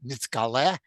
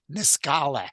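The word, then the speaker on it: נתגלה: Yiddish to pronounce them in the Ashkenazic way. So it's not nitzgaleh, it's niskale. The accent moves, the suf is a suf and not a tough.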